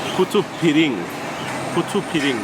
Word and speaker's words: putu piring: Putu piring, that's how you pronounce it.